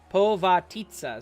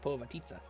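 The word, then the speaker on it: Povitica: Pavitica, that's what it's called. Or Pavatisa? Dude. Povatitsa is what it's called. Haha, it even says it's pronounced Povatitsa.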